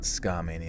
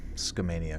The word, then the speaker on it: Scania: okay so it's quick not scam Mania it's just Scania quick okay I wonder